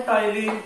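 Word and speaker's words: ptyalin: इस एंजाइम का अनुत्तर नाम है टाइलिन, टी साइलेंट है, टाइलिन।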